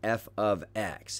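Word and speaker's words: f(x): something new also is function notation this is pronounced f of x and that's going to be part of your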